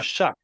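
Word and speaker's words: Shough: Why do they call him Shuck when it's his last name? Shook. Yeah, it is. But why? It It's not spelled like that.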